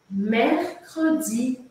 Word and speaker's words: mercredi: é o mais desafiador ó mercredi que que eu te recomendo para falar esse dia sem tanta complicação ou para treinar esse som eu te recomendo separar as sílabas porque se você conseguir fazer cada sílaba separadinha Isso quer dizer que